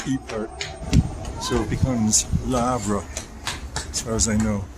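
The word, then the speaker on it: Le Havre: I hear a lot of people calling it laav. I guess it's the American way, but the French way, you take the L and combine it with the next word.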